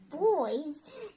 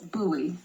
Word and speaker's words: buoy: No, it's like two. It's two syllables. Buoy. It's a buoy. Like buoy. Buoys. Buoys. And not boys.